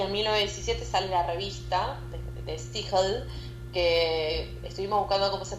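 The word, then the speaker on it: De Stijl: Se pronuncia de de steel. De steel de steel. De steel. El idioma sería un irlandés según averiguamos.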